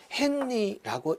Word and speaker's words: 헨리: 에너파이로 나타낼 수 있으며 단위는 h로 나타내고 헨리라고 읽는다 이렇게 기억을 하시면 되겠습니다